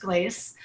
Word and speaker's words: Glacce: that big of a deal but it is pronounced glace um and I always say like as long